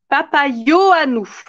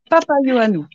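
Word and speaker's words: Papaioannou: Alors, ça se dit Papayo à nous. Papayoanou.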